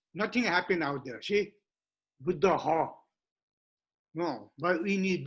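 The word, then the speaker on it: Buddhaḥ: Buddha is not correct pronunciation. Now you might have Buddha all the time, but people are not pronouncing correctly. Real pronunciation, correct pronunciation is Buddha. So Buddha is nominative singular. Nominative singular, yeah. With the Visarga at the end.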